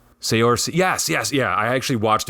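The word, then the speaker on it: Saoirse: Soiree Ronan? It's like Sayorsi. Sayorsi.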